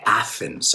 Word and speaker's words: Athens: We say Athens, sacando la lengua, right?